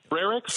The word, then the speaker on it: Frerichs: Am I pronouncing your last name correctly? You are. Okay. Frerichs. Like Frerichs. Like Frerichs. Army barracks.